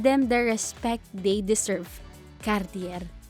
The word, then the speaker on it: Cartier: the respect they deserve Cartier don't worry if you can't roll your r as the French do it is not necessary additionally Cartier is acceptable but not Cartier number nine shofa another